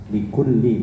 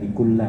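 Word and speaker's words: لِكُلِّ: Likulli bukan likulla ya. Likulli. Ala wa inna likulli malikin hima.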